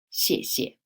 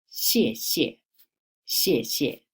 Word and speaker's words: 谢: So we take right hand side 射 as the pronunciation. So put these two together. 谢谢，谢谢 Thank you.